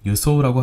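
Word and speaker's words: 輸送: 물자 수송이라고 할 때 수송은 유소라고 합니다. 그런데 이 한자 숫자를 유라고 읽지 않고 받을 숫자를 생각해서인지 주라고 읽는 경우가 종종 있습니다.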